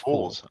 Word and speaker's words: Phule's: I think it's Phule's. Okay. So it's that F sound for the PH.